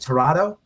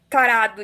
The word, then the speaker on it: tarado: Am I saying is it Torado? How do you say it, Torado? Tarado, yes.